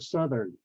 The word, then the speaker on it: Southern: the word Southern because it's start with the root word is south and it has that South and the soft th sound at the end with air coming out South but then with the suffix e RN added and it becomes Southern the South becomes s like V or suit okay and then the